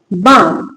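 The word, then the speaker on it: balm: Walk walk B ए एल एम बम एस L silent है।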